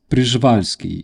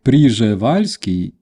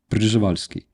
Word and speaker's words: Przewalski: It's Przewalski. It's almost like Przevalsky, but without e in the beginning. Przewalski. Uh to those who don't know, there is a Przewalski horse uh that horse